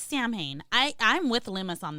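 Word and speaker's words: Samhain: Insight ourselves you know s is like Arkansas you should not why do we have to pronounce it like that it's Sam Hae I I'm with lmus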